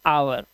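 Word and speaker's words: hour: अब एच कह रहा है ओ से पहले अगर एच आए तो साइलेंट होता है। यहां पर देखिए ओ से पहले एच है। हम घंटे को कैसे बोलते हैं? हम बोलते हैं आवर।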